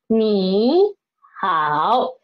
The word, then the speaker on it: 你好: which means hello hello me how they're all third tone words that turn syllables then this in this situation we should change this one this knee into me change it to the second term me how without me